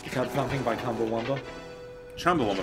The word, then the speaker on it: Chumbawamba: Chumbawamba, first of all. But if you pronounce the CH like a K, it could be Cumbawamba.